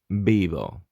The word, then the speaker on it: Vivo: So as you can hear, the V in Spanish is pronounced like B. Vivo.